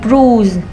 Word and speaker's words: bruise: Tiếp theo này các bạn, chữ UI được phát âm là U trong một số trường hợp sau nữa nha. U bruise, vết thương, vết bầm tím da.